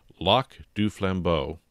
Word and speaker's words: Lac du Flambeau: terms on a market access agreement with the lock du flambo band of Lake Superior chipa Indians okay I